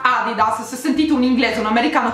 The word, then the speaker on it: adidas: corretto noi si dice adidas non si dice a dida su 16 adidas si dice a